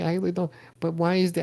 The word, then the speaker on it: Isla Dawn: Is it, I okay, I think it's Isla Dawn, and people call her Isla Dawn, and you called her Isla Dawn.